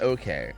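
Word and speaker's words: 0K: close very very close it's spelled zero K but pronounced okay oh so it actually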